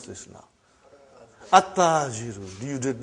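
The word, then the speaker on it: التاجر: At-tajiru. You see, your tongue has to touch, the upper part of your mouth inside.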